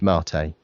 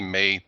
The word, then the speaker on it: MATE: everything got renamed and it is pronounced marate so you could say you like to enjoy your marate with a nice mug of latte flat of course I